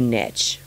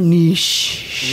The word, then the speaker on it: niche: to the idea of a niche or niche. Yes. I can't say it like that. I can't either. I can't. say niche. Niche. It's like pronouncing LaCroix, LaCroix. Yeah. I can't fucking do it. I just can't. You know what I'm talking about. And not only that, it's not wrong. Like, Right. it's right both ways.